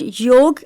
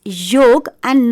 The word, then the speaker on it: yog: The word yog has come from a Sanskrit word yoj which means to yoke or to unite. So it is yog and not yoga which is popularly understood in the people's life